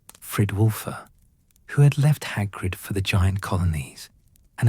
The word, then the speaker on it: Hagrid: "I am Hagrid. Can you say it? Hagrid, Gro stared at him with vacant eyes. Hagger, he said finally, and Hagrid's heart swelled with pride despite the mispronunciation.